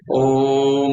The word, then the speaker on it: ओम: अब जैसे ओम शब्द के जैसे सर ने बताया है, ओम शब्द का जो उच्चारण है उसमें म की जो ध्वनि है वो कम से कम 50 से 60% होनी चाहिए, 70% जाए। जैसे ओम बोले म की ध्वनि,